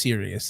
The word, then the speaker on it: Sirius: And it is Serious. It's Serious. I want to say like the Sirius, the North Star spelling of Sirius, but for anybody who maybe doesn't know that, it's spelled like Sirius Black from Harry Potter.